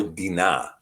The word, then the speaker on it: Dinah: Yeah, well, Dinah or Dinah would actually be the better pronunciation, Dinah.